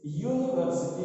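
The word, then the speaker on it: university: जैसे यूनिवर्सिटी, देखिए यूनिवर्सिटी लिखा तो गया है यू से, वावल है, लेकिन इसका उच्चारण य से हो जा रहा है यूनिवर्सिटी।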